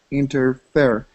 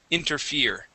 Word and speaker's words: interfere: hands that nothing could interfere he wanted to become master of time and space Arbiter of the sunrise okay very good okay this word here would be interfere instead of interfer interfere okay inter interfere good just